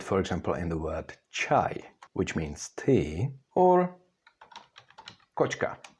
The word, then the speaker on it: čaj: In Czech words, you can see it, for example, in the word čaj, which means tea, or kočka, that's a cat.